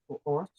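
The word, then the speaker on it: אור: Or. Yeah. So or, it's just pronounced as a O.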